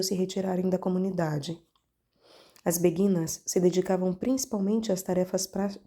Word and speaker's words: beguinas: beguinas aliás caros ouvintes creio eu que anteriormente falei beguinas me perdoem por este erro é beguinas não sei por pronunciei errado enfim perdoe-me mais uma vez é beguinas a pronúncia correta chamavam-se beguinas as mulheres